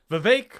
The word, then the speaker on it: Vivek: as Will's pointing out Vivek rhymes with cake he gained and Mike